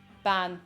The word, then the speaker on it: bean: Ban. You can say no as well, but that's a different case. Ban. It's pronounced ban.